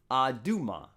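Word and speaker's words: אדומה: It's just pronounced differently, Adumah here. Almost the same thing, Adamah versus Adumah.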